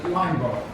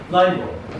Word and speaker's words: Linebaugh: Yeah, rhymes with awe, or Rush Limbaugh. No. But it's Linebaugh. Linebaugh.